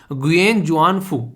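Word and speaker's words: Nguyễn Xuân Phúc: Basically इसको जो pronounce करेंगे वो करेंगे यहां पर गुयेन जुआन फू, ठीक है। तो गुयेन जुआन फू यहां पर बेसिकली एन साइलेंट है, ठीक है।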